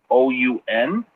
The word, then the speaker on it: Assoun: I'm not too sure if I'm pronouncing that right. It's Assoun.